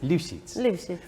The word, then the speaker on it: Libschitz: A ver, dame la pronunciación correcta. Liphets.